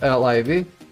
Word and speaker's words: Liv: just call me liv it's pronounced liv like in live and that's the easiest